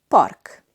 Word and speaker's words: park: In Hungarian, park. Park. In Hungarian, we have the R sound like in Spanish.